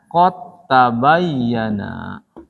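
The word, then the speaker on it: قد تبين: Hilang dalnya. Langsung masuk ke sini. Bacanya qad tabayyana. Karena tadi idgham itu kan melebur ya, ketemunya tuh. Qodes kalimat, tabayyana kalimat. Nyatu qad tabayyana. Hilang dalnya. Nggak boleh qad tabayyana, nggak boleh.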